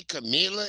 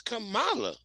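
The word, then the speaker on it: Kamala: I don't say Camila, it's Camala. Camala.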